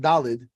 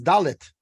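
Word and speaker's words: דלת: By the way, it's a funny thing because I know a lot of people think that Dalid is spelled Dalid Aleph Lamed Ayin Dalid, but Dalid, right. It's not Yiddish. Dalid is actually spelled Dalid Lamed Tuf. It's Dalit. Dalit.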